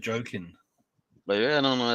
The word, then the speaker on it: Joakim: Yeah, because there's actually a basketball player named Joakim Noah, and he pronounced it Jokin.